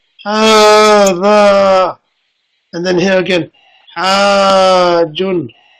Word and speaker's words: هذا: Over here, this word, there's no alif on it, but as we've seen from the Dars al-Awwal, it's pronounced as if there is an alif. It's not written, but it's pronounced. So see that alif that I just drew there, the small one? That shows that you're going to say, هذا.